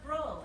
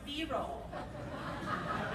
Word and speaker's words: B-roll: It's observational footage, but it's not pronounced brole, it's pronounced B-roll.